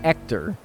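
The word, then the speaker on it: Héctor: name as actor because the H is silent in Spanish very understandable mistake to make then right if you say hello my name is ector I would like a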